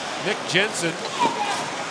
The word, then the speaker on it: Nick Jensen: Jensen playing for Denmark Nick Jensen as a Canadian dad Dan has been a long time coaching Denmark so he's going with the North American pronunciation mercifully for us yes